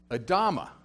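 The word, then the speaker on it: אדמה: Adam is made out of the dust, made out of the ground, which is pronounced Adama. So it's, the human being is derivative of the dirt. Adam comes from Adama.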